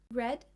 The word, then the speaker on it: read: you hear the difference red is the pronunciation for the past WR r e a